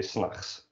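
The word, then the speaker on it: 's nachts: pronounced like that but you drop the tea basically when you say that you say snacks which is a really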